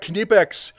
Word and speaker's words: Knipex: right let's talk about knipex uh the and somebody always has to comment it's not the K is silent k is not silent brother go and ask